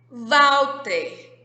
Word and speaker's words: Walter: Walter. Walter tem o som de V, mas se escreve com W.